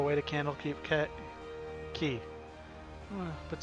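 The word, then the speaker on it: Quay: a dry docks and yes that is apparently pronounced key I checked this last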